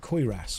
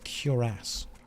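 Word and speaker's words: cuirass: way we've got to find where the deadric curas is some of you say that I'm saying that wrong they're like it's not curas it's quas or something like that I think you'll find it's curas cure ass that's how it's pronounced don't tell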